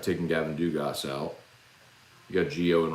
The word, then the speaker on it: Dugas: The Gavin Dugas thing has really thrown me off. It's made me habitually pronounce the S now, but I think that's the only Dugas that I know that pronounces the S.